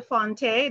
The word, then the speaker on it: Fonteh: And I have with me Cheryl Fonteh. Did I pronounce that correctly, Cheryl?